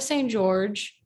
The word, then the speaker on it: St-Georges: So I'm an at St. George with an S at the end, but the S is silent.